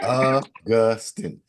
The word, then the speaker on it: Augustin: inflection is on the second syllable. Augustin in the middle.